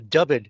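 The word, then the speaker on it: Dyfed: you have or haven't encountered uh called the dubbed enigma dub it is spelled d-y-f-e-d by ted holliday and randell pew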